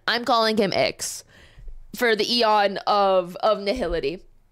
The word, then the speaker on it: IX: I know it's pronounced 9. I'm calling him Ix for the eon of nihility.